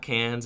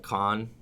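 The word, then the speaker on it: Cannes: can judge oh okay is it not cans it's pronounced can okay it's pronounced like con in French so con con is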